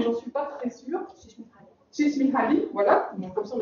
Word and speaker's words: Mihaly Csikszentmihalyi: Csikszentmihalyi, voilà, donc comme ça on a la bonne prononciation.